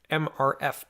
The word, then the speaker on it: MRF: local material recovery facility MRF pronounced like Smurf Smurf dumped onto conveyer belts